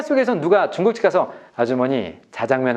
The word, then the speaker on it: 자장면: 잠 공항으로 되지 않잖아요 짬뽕은 짬뽕 인데 자장면은 발음은 짜장 인데 항상 자장 으로 쓰세요 그래서 현실과 맞지 않아서